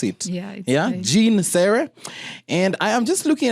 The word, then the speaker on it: Jeanne Sere: did i mention your name correctly did i pronounce it yeah jean sarah and i am just looking at a couple